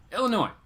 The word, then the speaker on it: Illinois: Count Von Strange said it was storming bad here in Illinois too. Illinois. Sorry. I don't know why I want to pronounce the S sometimes. Illinois.